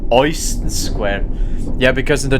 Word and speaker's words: Euston: EU is in German pronounced Oi. So when I watched videos about this game before I actually started playing it, Germans in this game always said Euston Square.